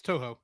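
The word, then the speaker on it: Toho: too I say it right too yeah it's too too I always get those mixed up the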